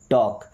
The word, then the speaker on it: टॉक: टॉक यहां पे L silent okay टॉक मी्स बात करूंगा